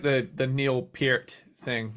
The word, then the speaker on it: Peart: like the the Neil Peart thing Neil Peart part Neil pert yeah I said Neil pert